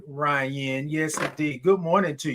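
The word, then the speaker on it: Ria: Ari, but I want to make sure I'm pronouncing your name correctly. Hey, Ryan. Good morning. Hey, Ryan. Spelled R I A. Ryan.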